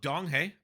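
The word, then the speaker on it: Donghae: at it real quick oh dong hey I was I was close I think I just forgot the G there and then uh Yun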